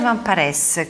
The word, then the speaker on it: Van Parys: Van Paresse, così si pronuncia, Sì.